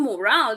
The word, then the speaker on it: morale: Uh, for example, uh, listen moral that the stress is on the first syllable and morale that the stress is on the second syllable.